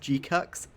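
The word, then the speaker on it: GQuuuuuuX: That's pronounced. It's pronounced G-Cux.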